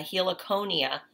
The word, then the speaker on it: Heliconia: helix so I said Heliconia let's see it goes yep I was right it gives the pronunciation right here a he Laconia which is a plant